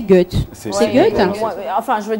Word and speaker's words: Goethe: C'est prononcé Goethe.